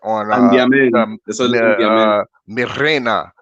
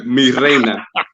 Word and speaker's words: Mi Reina: Okay, and Landaman, how you say that? On Reina. Am I saying it right yet? Yeah, well, almost. Mi Reina.